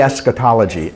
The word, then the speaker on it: eschatology: Say eschatology. Eschatology. So now say this one. This is more syllables.